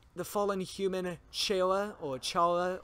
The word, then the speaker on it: Chara: fallen human Shailja or Chara or pronounced Cola it's pronounced color but for the sake